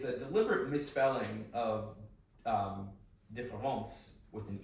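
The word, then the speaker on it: différance: So this is Derrida's différence, which is pronounced the same as the French différence.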